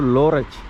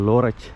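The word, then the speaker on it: Lörrach: இந்த டவுனோட பேர் லோரச். எப்படி ப்ரொனவுன்ஸ் பண்ணாங்கன்னா LORRACH. மேலே போட்டு பார்த்தீங்களா ப்ளூவில், லோரச் இந்த ஊர் பேர்.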